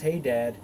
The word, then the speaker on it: Hadar: son of akbar died and hedar also pronounced hey dad reigned in his dead